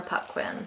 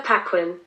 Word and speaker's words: Paquin: once flees lions please banquo will be anna pupquin i don't know if that's how you pronounce it anna paquin thank you she's 38.